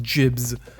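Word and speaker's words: gibs: and jibbing I guess I also said gear but not jibs but I heard that's the proper way to pronounce it and you know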